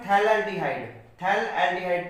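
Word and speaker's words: phthalaldehyde: Ortho पे 2 CHO जुड़े हुए हैं तो इसका common name थैल एल्डिहाइड, P silent रहता है इसमें, और बेंजीन 1 2 डाई कार्बेल्डिहाइड।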